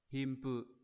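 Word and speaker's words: 貧富: À, nó sẽ đọc là Himpu.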